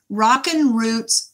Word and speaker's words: Rockin' Roots: Rockin' Roots. It's ROCKIN with a little apostrophe.